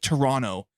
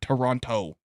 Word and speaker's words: Toronto: They don't You don't pronounce the T. It's Toronto, not Toronto.